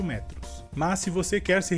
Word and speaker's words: metro: E a diferença seria que a sílaba mais forte nessa palavra em espanhol seria a sílaba inicial me, e em português seria a última sílaba tro.